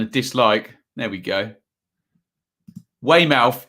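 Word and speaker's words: Weymouth: dislike there we go way mouth is pronounced like born mouth okay did I get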